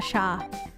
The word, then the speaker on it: chat: but it's proun sha is cat is chat in French but it's pronounced sha Lea Lea Sha Sha